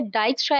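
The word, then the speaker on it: Dijkstra: लिखा हुआ था, बट ये वर्ड जो होता है ये होता तो जे के साथ है बट जे साइलेंट होता है, डाइजेस्ट्रा एल्गोरिदम होता है।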